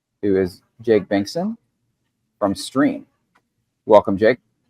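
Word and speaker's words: Striim: It actually is pronounced stream as you heard me say it.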